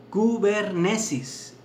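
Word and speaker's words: κυβέρνησις: Miren, este don se pronuncia en la palabra griega kubernesis.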